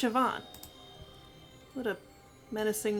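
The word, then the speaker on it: Siobhan: where they stole the Sunstone from interesting hallway shoban sioban it's pronounced sioban what a menacing name says here that she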